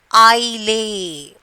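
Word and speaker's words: aisle: I lay. Okay. How will you pronounce? I lay. Which letter is silent? S is silent.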